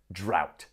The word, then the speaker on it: drought: global warming is drought look at that word I know it's terrible when you see GH you never know what to do sometimes it's silent and other times it's F like in enough but here it's silent so repeat drought yeah